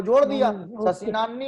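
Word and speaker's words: शशिनाह्नि: उसमें वो पहली लाइन का मेरे को प्रोनाउंसिएशन नहीं पता है, वो शशि, किम फिर इसके बाद में क्या लिखा है? शशिनान्नी, शशिनान्नी, शशिनान्नी नानी बोलना है ना?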